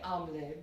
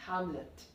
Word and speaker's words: Hamlet: If we follow the French pronunciation, you won't be pronouncing the H, and the T will also not be pronounced. So it will be simply Hamlet.